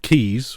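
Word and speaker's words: Caius: name me guys but they'll produce the also pronunciation of keys which is another pronunciation of it which is actually because there's a college in Cambridge where I'm from called gonville and keys and it's spelled gum and gas really yeah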